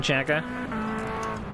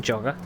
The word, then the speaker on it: Jagger: My nearest championship contenders at the moment are Costas Kanzaris, Ken Jagger, although Jim pronounces it as Ken Jogger, don't know why.